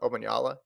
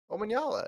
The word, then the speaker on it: Omanyala: You're on a first name basis with Ferdinand Omanyala. You're like, I'll see what Ferdinand runs. Yeah, it's because I didn't want to say his last name because I didn't know how to say it. So Omanyala.